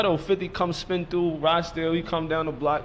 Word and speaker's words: Rochdale: I'm from Rochdale though. Rochdale.